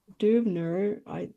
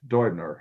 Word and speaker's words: Deubner: Brett Deubner. Okay. Brett Dubner. Right. Dubner. Okay. I Uh-huh. Germanized the pronunciation there.